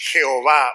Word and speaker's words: Jehová: pacto de Dios Okay es Jehová O yahwe yahwe yah como le quieran eh pronunciar okay Entonces cuando ustedes